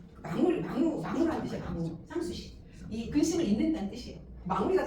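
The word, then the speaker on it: Sanssouci: 흔들렸고 이제 상수시 공장이라고이 상수시가 한국말 아니야 여기 쌍수시 불어예요. 도어 아니에요. 독일 있지만 불어예요. 그게이 쌍이라는게 SNS 프랑스와는 불어는 땡그때 자음을 발음 안 해요.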